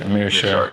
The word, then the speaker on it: Meerschaert: Meerschaert.